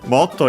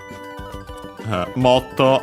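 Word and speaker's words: もっと: Motto, as we've seen, suspiciously with that to at the end, could be originally actually an onomatopoeia. Nowadays, simply considering an adverb. Accent on the first more.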